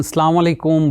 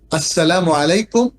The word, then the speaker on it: আসসালামু আলাইকুম: এড করতে পারেন ওয়াবারাকাতুহ কিন্তু এটাকে সালাম আলাইকুম অথবা সালাম আলাইকুম এভাবে যাচ্ছে তাইভাবে বলাটা ঠিক হবে না এটা আরবি উচ্চারণে গলত এবং এতেফুল মেসেজও মানুষের